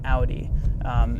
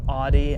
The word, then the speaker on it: Audi: pronouncing it that way same with Audi if you hear anybody saying Audie I don't know well